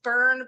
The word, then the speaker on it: Byrne: But yes, I am known as Byrne Byrne, and I go by that because it's a little bit safer than my name, which is.